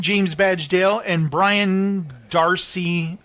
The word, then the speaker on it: d'Arcy: solicited domhnall gleeson James badge Dale and Brian D'Arcy it's Darcy it's Dee ' a rcy solo do I pronounce it Darcy yes yeah that's exactly it's